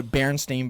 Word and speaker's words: Berenstain: think- Do you remember the Berenstain Bears? Yes, I used to watch it How do you every spell it?